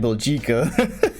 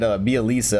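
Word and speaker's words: Bjelica: His name looked like Belgica. and you pronounce that Bielitsa, I think, is what the commentators say.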